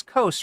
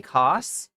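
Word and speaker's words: Daily Kos: Advertiser point of view how is the Daily Coast pron it's Coast right he pronounces it wrong does he call it the daily cost yes in order for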